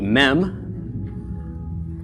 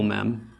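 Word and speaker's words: מ: of first alright so our next letter is the mem mmm makes the sound of the letter M numerical value is 40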